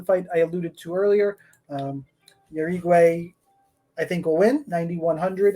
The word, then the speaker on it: Jauregui: Jauregui. There we go. I got it.